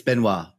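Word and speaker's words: Benoît: It's how do you say it? It's Benoit. It's French. Benoit Coulanges.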